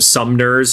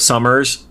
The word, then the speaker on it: Summers: He calls him Sumners instead of Summers.